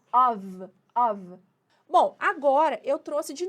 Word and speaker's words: of: Perceba que esse OF aqui, ó, com um F só, a gente pronuncia com som de V, of.